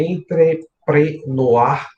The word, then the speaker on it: entrepreneur: A palavra empreendedor, de acordo com o Sebrae, ela tem origem francesa, né? A pronúncia é entrepreneur.